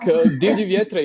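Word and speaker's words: Divlji vjetre: And your song is called Divli Vjetri. I have quite a Russian pronunciation. Never mind. Don't worry. Like Divli Vjetre is good.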